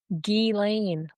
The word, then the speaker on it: Ghislaine: Ghislaine. Ghislaine? Okay, all right. So I got it. It's spelled Ghislaine.